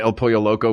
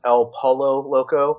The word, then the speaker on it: El Pollo Loco: First of all, you're mispronouncing it. It's El Polo Loco. El Polo Loco. Yes. really, Mark? Yeah. Yeah, it's like the game you play in the pool, Marco Pollo.